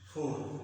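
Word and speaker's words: four: जैसे फोर, र यहाँ पर लास्ट में आया, फोर में र यहाँ पर आया, तो इसका उच्चारण होगा फोर। इसका उच्चारण क्या होगा? फोर। र का उच्चारण नहीं होगा, फोर फोर।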